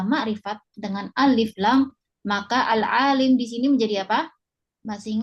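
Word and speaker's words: العالِم: Kemudian al-alim, apa harokatnya al-alim? Ya. Ini alhamdulillah lamnya sudah dikasih harokat kasroh. Ya, maka kita jangan membacanya al-alam.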